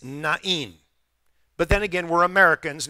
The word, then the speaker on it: Nain: So afterward, he went to a town called Nain. And by the way, that's not how it's pronounced. It's Nain.